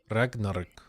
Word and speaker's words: Ragnar: it in Swedish RAR rarar Ragnar bro you just roll the RS okay oh there you